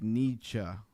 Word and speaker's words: Nietzsche: Society Accent telling me how to say it, like Nietzsche.